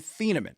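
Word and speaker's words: Thieneman: I had not seen the official pronunciation. Dylan Theamman.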